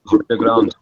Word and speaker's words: Ribeirão: There's it's called Big River, but in Portuguese it's pronounced Ribeirão. And they had a pizza